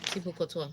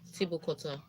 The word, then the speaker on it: Thibaut Courtois: Please, how do you pronounce Thibaut Courtois? Thibaut Courtois. Eh? Thibaut Courtois. Thibaut Courtois.